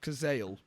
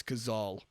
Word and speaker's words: Cazale: all this time what it's not kazel it's gazal oh my christ i